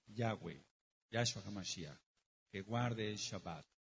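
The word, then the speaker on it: Yahweh: Nosotros le deseamos que usted pronuncie el verdadero nombre yahwe Yu Que guarde el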